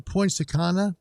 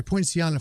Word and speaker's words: Poinciana: have three and i'm going to say his name wrong it's james sylvester with the name of the town he's in is in points akana let's see point siana sorry poinciana florida so uh jim nice signal nice station